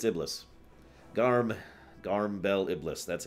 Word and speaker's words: Iblis: or not did not bail it simplest it's Iblis garm garm bel Iblis that's him so Bela